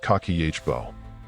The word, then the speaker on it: kakeibo: A notebook called Kibbo, pronounced kakihbo.